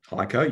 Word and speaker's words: HEICO: Is that how you pronounce it? HEICO, yep.